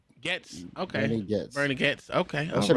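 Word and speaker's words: Goetz: Georgia said it's pronounced Getz. Getz. Okay. Bernie Getz.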